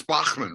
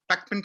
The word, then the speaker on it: Bachman: so you could sell in German it's Bachmann right it was like Bachmann turning oh it's alive that kind of in England it's real quick it's Beckman Turner overdrive in Canada it's Bachmann and the states is Bachmann